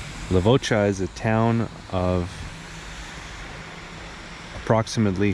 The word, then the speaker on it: Levoča: town of lavaca or lavaca as it's pronounced in Slovakia lavaca is a town of